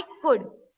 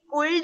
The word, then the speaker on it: could: सब, I wish I कुड, COULD, कुल्ड नहीं होता, एल साइलेंस है, उसको कैसे प्रोनाउंस करते हैं, कुड।